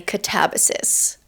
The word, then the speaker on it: katabasis: I've heard RF Kuang say katabysis, so that's what I'm going with.